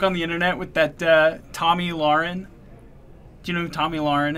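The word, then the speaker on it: Tomi Lahren: pronounce her name right it's Tommy Lauren but it spelled like T Oh am i lah re n so it's kind of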